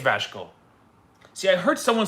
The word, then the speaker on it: Vasco: Is it Vasco or Vasco or Vasco? Vasco. I can't even pronounce my own team. Vasco. Which maybe should be a -1 on the pronunciation challenge. You can't even pronounce your own team. Vasco. Second, Vasco. Oh, I've been saying Vasco with an H in there.